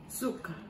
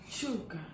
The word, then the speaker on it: sugar: Suka. No, it's a sh sound. Sugar.